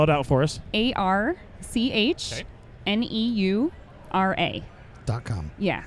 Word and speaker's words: Archneura: ARCHNEURA. .com. Yeah, so it's like architecture and neuron, but Ooh.